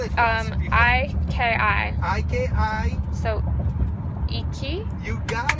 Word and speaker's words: iki: Spell it for us. I-K-I.